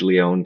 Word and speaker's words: Lion: Then also on LinkedIn, first name's, last name's Lion, but it's spelled like lion, Lion.